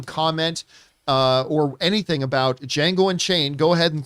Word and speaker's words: Django: you have you have our django the d is silent you know because i'm